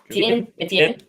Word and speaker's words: Etienne: Etienne. Yeah, and we'll make sure I got that pronunciation correct, Maxi boy.